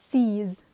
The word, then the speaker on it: seize: Da legger du merke til at da har vi en EI. Men her så uttaler vi det seize. Og da må jeg passe på at jeg sier z, fordi at der står det en z. Det står ikke en s der, så derfor så blir det seize.